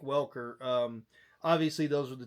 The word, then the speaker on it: Welker: S- If you're north in the Springs, uh it's Welkner. Uh everyone else in the world, it's Frank Welker.